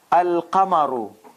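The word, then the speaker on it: القمر: Al, see, Al, Alif, Lam, cut the tail, stretch. Qa, cut the tail, stretch. Mar. Al-Qamaru.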